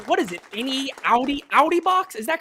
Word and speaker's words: Audi: get the word wrong what is it any Audi Audi box is that correct Audi that's how you say it Audi Audi okay